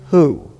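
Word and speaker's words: הוא: It is the word, how do you pronounce it? Me. And what does me mean? Who? Me is who?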